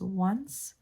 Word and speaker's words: once: sense that, you know, an O would have a W sound.